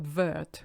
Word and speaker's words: vert: followed by RT plus you don't pronounce your last T you hardly ever pronounce elasti to be honest so they're not vert which is what I